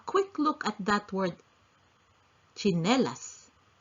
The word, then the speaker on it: tsinelas: look at that word tsinelas although it is spelled with tsi we pronounce as chinelas.